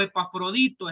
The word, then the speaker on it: Epafrodito: solo unas pequeñas pinceladas hay un famoso epafrodito o epafrodito es la palabra se pronuncia de esa manera quién eres parafrodito era